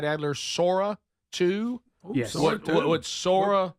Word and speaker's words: Sora 2: Sora 2?